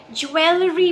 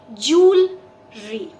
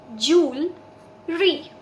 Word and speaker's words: jewelry: Okay मैंने बहुत लोगों को इसे ज्वेलरी प्रोनाउंस करते हुए सुना है। गलती हमसे इसलिए होती है क्योंकि अक्सर हम इंग्लिश में जैसे स्पेलिंग होती है फोनेटिकली उसको बिल्कुल वैसा का वैसा प्रोनाउंस कर देते हैं। सो spelling is JEWEL, ज्वेल, LERY, री। सो हम उसको ज्वेलरी प्रोनाउंस करते हैं विच इज एब्सोल्युटली रॉन्ग। इस वर्ड का correct pronunciation is जूलरी, jewelry, jewelry. I am wearing this jewelry.